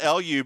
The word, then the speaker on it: Lu: It's spelled L-U because I had the subtitles up earlier while I was like, it's L-U, not L-O-U for Louise. It's L-U.